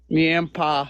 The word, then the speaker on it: Niempa: Niempa, Neantha? Niempa, like pa as in dad.